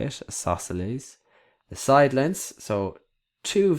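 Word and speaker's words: isosceles: Next one isleselles that's how you say it. Isosles the side lengths.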